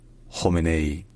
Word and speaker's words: Khamenei: His name is pronounced Khamenei.